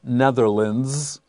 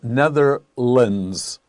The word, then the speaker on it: Netherlands: one more thing notice netherlands l-a-n-d-s or l-a-n-d at the end of a term in geography is not pronounced land unless it is separate if it's one word then we have the sound lind and the best example